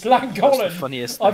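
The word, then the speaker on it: Llangollen: Flangochlin. Oh my god. That's how I pronounce Flangochlin. Langollen. It's Langollen.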